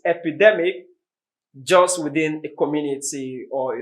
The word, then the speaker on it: epidemic: of them two of them epidemic and epidermis both have the stress on the d e epidemic d e epidemic d e r what's the difference between them the difference is d e is a short vowel sound y d e r is a long vowel sound do you get that